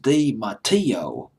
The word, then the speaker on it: Dematteo: The Italian pronunciation is Dematteo, but I'll just pronounce it as Dematteo.